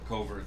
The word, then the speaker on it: covert: says uh about the covert thing that and an autobahn uh murder i worked with in vermont used the long used a long o covert covert okay that's what